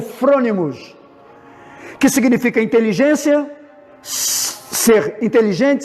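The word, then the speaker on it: phronimos: Agora, a palavra prudente no grego significa frônimos, que é P-H-R-O-N-I-M-O-S. Nós pronunciamos como frônimos, que significa inteligência, ser inteligente, sábio.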